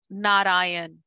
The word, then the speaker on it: Narayan: Narayan. Na. Ra. You know. There is no syllable stress. It's just a one. You stretch. Narayan.